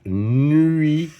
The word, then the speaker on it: nuit: on appelle ça la nuit ui ui. Alors, j'ai besoin des voyelles u et I pour faire UI nui et à la fin j'ai un T que je ne prononce pas.